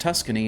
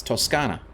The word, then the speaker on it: Toscana: Tuscany is not pronounced Tuscany in Italy. It's Toscana, or something like that.